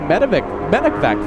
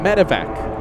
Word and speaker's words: medevac: This is a medvac flight. And let's all say it correctly together this time. Medevac.